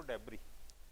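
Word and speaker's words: debris: तो डेब्री में एस को हम प्रोनाउंस नहीं करते, DEBRI होता है, पर बोलते हैं हम उसको डेब्री, राइट।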